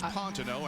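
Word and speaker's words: Pantano: sorry you're going back to switzerland there is pontino and that is the correct pronunciation by the way of that name he's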